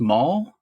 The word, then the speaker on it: Mal: And the fact that DiCaprio's late wife in the movie is named Mal, but pronounced Maul, and my ex-wife's name is Molly.